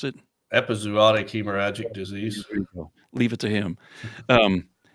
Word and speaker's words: epizootic hemorrhagic disease: it OIC hemorrhaging disease is that how you pronounce it epizootic hemorrhagic disease leave it to him um and it what